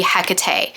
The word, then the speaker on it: Hecate: and in those circles the the pronunciation tends to be hecate now i do believe that either pronunciation is correct depending on which path